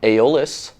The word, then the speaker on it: Aeolus: made guitar but looking at the Harley Benton aeolus thing that's how you pronounce it this thing's got a fantastic finish